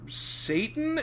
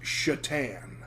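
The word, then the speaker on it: Šatan: woman says oh yes your ticket's ready mr satan and he says actually it's pronounced chatan and she says oh like the hockey player for those that don't understand that reference miroslav shatan spelled s-a-t-a-n but with um uh tick mark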